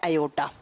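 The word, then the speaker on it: aorta: इससे जुड़ती है अयोटा। ठीक है, आर यहां साइलेंट रहता तो इसे ओटा प्रोनाउंस करते हैं या अयोटा लिखते हैं, जो भी आप लिखो।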